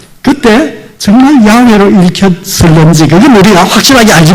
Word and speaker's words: 야훼: 중에 상당히 많은 수가 이 단어는 야훼 그렇게 발음됐을 거다 이렇게 주장하는 사람들이 늘어나게 된 것입니다.